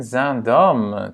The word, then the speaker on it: Zaandam: En Zaandam, très proche d'Amsterdam. D'Amsterdam. Et c'est donc une ville. Et ici, on a 2 syllabes. Zaandam. Hein? Long, court.